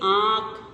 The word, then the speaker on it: आँख: अनुनासिक बिंदु में क्या होता है, देखो, अनुनासिक का उच्चारण नाक और गले की सहायता से किया जाता है ना, और इसका प्रयोग चंद्र बिंदु के रूप में किया जाता है, जैसे आँख, गाँव, सांप आदि, ठीक है।